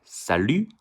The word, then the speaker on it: salut: In French, salut. Remember, the most consonants at the end doesn't pronounce, except C, Q, L, R, F.